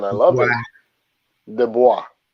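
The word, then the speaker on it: Du Bois: pronunciation i love it de bois because people yeah americans like to say the boys the boys yes the boy get it together it's a french name okay people well listen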